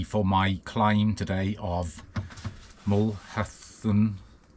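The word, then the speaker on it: Mulhacén: my climb today of mulen I did look up the pronunciation I think it's mulhan I want to give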